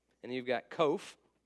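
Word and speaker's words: qof: sound and you've got kof rhymes with loaf kof looks like a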